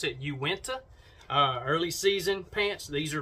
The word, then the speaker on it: Uinta: These are the, pronounce it Uinta, early season pants.